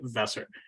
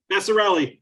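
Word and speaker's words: Vasarhelyi: and wife, Elizabeth Chai Vesser. Vesser, I'm sorry, how do you say your Vassarelli? Thank you. I'm sorry about that. Vassarelli. It sounds like Italian, but it's actually Hungarian.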